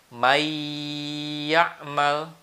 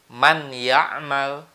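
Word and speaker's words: من يعمل: Jadi cara membacanya tidak boleh may ya'mal. Nah, kalau itu dimasukkan tapi tidak disertai dengan gunnah. Karena huruf ya ini termasuk huruf idgham bil gunnah, maka harus digunnahkan atau ditekan 2 harokat. May ya'mal. Nah, apalagi kalau bacanya begini. Man ya'mal, itu lebih salah lagi. Karena nunnya harus dibaca dengan dimasukkan. May, nunnya hilang, masuk ke huruf ya.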